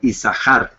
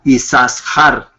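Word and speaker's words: יששכר: por eso es que el nombre se pronuncia como si fuera una sola Shin sí como isar y no yasar podríamos usarlo también yasar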